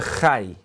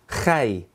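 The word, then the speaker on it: חי: That's the letter, you actually have to say it like you're going to spit and then say hi.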